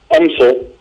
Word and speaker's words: UMSL: But I think, if UMSL, and I'm new to pronouncing it that way. That's it. That's the way we say it.